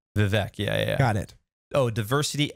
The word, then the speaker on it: Vivek: And just correct me on my pronunciation. Vivek. Vivek.